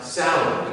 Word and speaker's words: Samhain: In Northern Europe, natives would meet it head-on with the festival of Samhain, actually pronounced Samhain, because apparently the Celts got their W upside down.